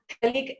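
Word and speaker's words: phthalic: तो देखते हैं इसको, C double bond O, C double bond O, और बीच में एक O, तो इसको बोलते हैं थैलिक एनहाइड्राइड। P इसमें साइलेंट है, थैलिक एनहाइड्राइड।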